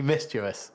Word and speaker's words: mischievous: begins with M um mischievous right okay it's mischievous mischievous it's mischievous no no it's definitely mischievous that is the correct pronunciation I looked it up I got somebody